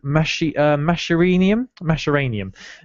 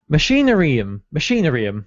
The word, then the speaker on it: Machinarium: few weeks, I've been playing a game called Masheranium. Now, this just highlights how bad I am at pronouncing words, because I just can't even pronounce the game I've been playing now. Let me just... Machinarium, that's it.